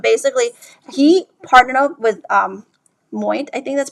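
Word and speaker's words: Moët: I think it was I forgot the name of the champagne brand, but basically he partnered up with Moit, I think that's pronounced, LV's company that does a lot of liquor worldwide.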